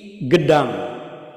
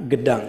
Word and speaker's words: Gedang: Wulida, dilahirkan Hadratus Syekh fi Gedang. Nah, Gedang. Jadi kalau dalam Jawi itu kalau ada kaf, biasanya ada titiknya di bawahnya itu huruf G, dibacanya itu bukan kaf ya.